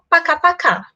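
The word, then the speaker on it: пока-пока: E a segunda é pacá-pacá, que é esse tchau-tchau mais informal.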